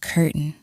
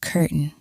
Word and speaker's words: curtain: Be careful of the pronunciation. I know it looks like curtain, but we pronounce it curtain.